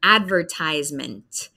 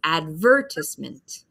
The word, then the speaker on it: advertisement: So here we have the word, I say, advertisement. Advertisement, I. So we hear a long I sound. That's the big syllable in the word. And then the British English one, we have a different focus. We say advertisement, advertisement. So I focus on advertisement. They say advertisement. So we have a different focus in the syllables.